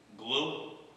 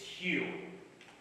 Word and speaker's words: Hugh: Glue? It's Hugh. The GH is silent.